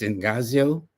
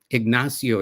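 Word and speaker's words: Ignacio: And his name again is Enazio Ignasio, excuse me, Zaragoza.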